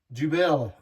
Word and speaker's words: Dubbel: You can't that's not pronounced double. Do you know how to pronounce it? Belie Jubel.